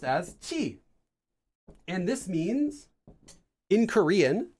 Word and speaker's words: 치: I know I didn't write it very well, which is pronounced as chi.